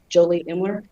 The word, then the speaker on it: Jolie Imler: If you'll state your name and spell it, please. Jolie Imler, Jolieimler.